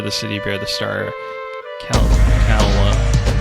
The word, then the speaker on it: Caelondia: Caelondia. That's how you pronounce it.